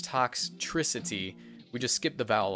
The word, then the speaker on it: Toxtricity: and that is toxicity it's really hard to pronounce I thought it was like toxicity but no its toxicity we just skip the vowel altogether but this